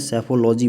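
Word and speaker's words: psephology: बोलेंगे इसको बोलते हैं सैफोलॉजिस्ट मेरे भाई इसी option is the correct answer सैफ लॉजी पढ़ लोगे पी साइलेंट रहेगा पड़े हैं क्या उसको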